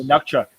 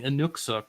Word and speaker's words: Inuksuk: The Nukchuk. Yes, which I looked up is apparently them mispronouncing Inuksuk, which is a Inuit word.